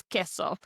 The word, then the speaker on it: queso: Now we know in these combinations our favorite word cheese for example queso we do not pronounce as queso. No it is queso.